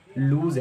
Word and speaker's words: loose: कहते हैं आपका शर्ट लूज़ है, आपके जूते बहुत लूज़ हैं। तो ये जो लूज़ होता है ये रॉन्ग प्रोनाउंसिएशन, इसकी राइट प्रोनाउंसिएशन होती है लूज। जी हाँ, लूज।